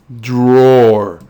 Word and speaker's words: Dror: We already know the roar part, so we're going to focus on this first syllable, D, in Dror.